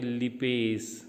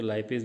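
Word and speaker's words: lipase: तो उसके लिए जो एंजाइम्स आता है पैंक्रियास से, उसका नाम है लिपेस, उसको लाइपेस भी बोलते हैं, लिपेस बोलते हैं।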